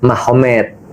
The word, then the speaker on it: Magomed: Jadi tulisnya Magomed, tapi bacanya Mahomet, kan gitu kan ya. Jadi Nur Magomedov itu jadi Nur Mahomet.